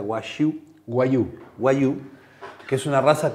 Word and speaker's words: Wagyu: voy a preguntar por enésima vez cómo se pronuncia Wagyu. Wagyu.